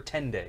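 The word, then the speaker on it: tenday: Once per dende, you can shout Chalavar's praises to have inspiration. Oh wow. Once per 10 day is how it's said.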